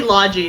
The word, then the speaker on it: Logy: It's actually Logi. That's how they pronounced it in the game.